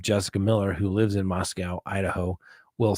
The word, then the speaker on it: Moscow: It's pronounced Moscow. All right, Jessica Miller. There it is, the official Moscow, Idaho. The W is silent and is pronounced with an E, not a W.